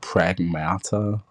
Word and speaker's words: Pragmata: year is the game Pragmata. Now, I find this game funny because it rhymes with or yeah, it rhymes with pragmatic.